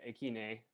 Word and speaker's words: AKINE: here so thank you a kind or some people have said akine i kind of like that pronunciation a lot too um yeah i i've